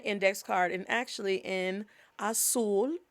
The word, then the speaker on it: azul: card, and actually in azul. The way you pronounce blue is azul, is not azul. Every time you see a Z, In Spanish, think of it as an S sounds.